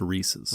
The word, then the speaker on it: Reese's: Not Reese's. Reese's There's no I in it. Reese's Puffs. It's just Reese's.